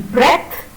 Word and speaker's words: breath: In breath, breathless, and breathe, the TH is pronounced differently. In breath or breathless, the sound is th, and in breathe, it is the.